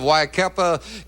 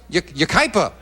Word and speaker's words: Yucaipa: And the opening poem sent in by Ann Young of Waikapa, California, watching us on, am I pronouncing that right? Yucaipa.